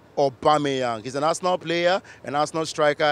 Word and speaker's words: Aubameyang: sports fans get to pronounce all sorts here the likes of a boomerang a boomerang or he had them em Eric or some of them actually said Emirates but I mean the representation has to be Pierre Emerick Obama young he's a national player